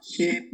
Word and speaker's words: ship: Ship. A ship. Y se pronuncia así. Ship. Como si fuera, como eso de como la E, así. Ship. Porque oveja decimos sheep.